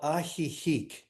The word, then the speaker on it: Ajijic: James founded Namaste Village, an interfaith spiritual community in a place where I can't pronounce. What's the name of it again? The town is called Ajijic in Mexico.